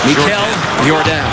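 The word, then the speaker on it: Michal Jordan: That's spelt Michael Jordan, but pronounced Mikel Jordan.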